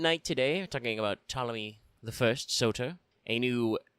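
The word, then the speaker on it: Ptolemy: Tommy one s born 369. Nice. BCE died 282. Not nice. BCE. The P is silent.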